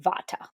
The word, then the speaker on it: Vata: explain is called V here in the west most people pronounce it Vata so a v person